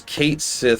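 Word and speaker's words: Cait Sith: I will literally literally never pronounce it the other way. It is Kate Sith forever.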